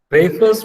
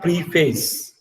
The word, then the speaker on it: preface: So this preface means introduction. Now focus on the introduction, in pronunciation of the word. It is not preface, it is preface.